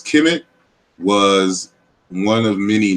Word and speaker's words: Kemet: know that the word, as we pronounce it, as Kemet, was one of many names for ancient Egypt.